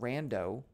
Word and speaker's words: rando: So I'm going to make an empty list and call it rando. I can't call it random. That's reserved. Rando rhymes with mando from The Mandalorian, so that's why I'm doing that.